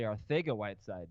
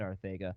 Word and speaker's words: Arcega-Whiteside: Arcega-Whiteside, Dave. I know. He's Spanish. I think both of them are acceptable. That's true. Both players are very good, Arcega and Arcega.